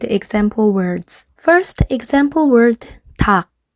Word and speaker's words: 닭: First example word, 닭, 닭. We learned about K and P sound. This is pronounced with the K sound, which means chicken.